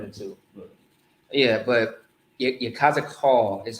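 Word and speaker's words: יחזקאל: last name he has you cause a qual you cause a qual is how you say his name all right and i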